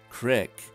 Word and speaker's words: creek: of the state okay so if it's not crick how about saying roof as roof in